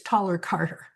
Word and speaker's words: Thaler-Carter: With I'm sorry, Rita, it's Taller-Carter. I still said it Taller wrong? dash Carter. Okay, No, you pronounced the taller right, but it's Taller dash Carter.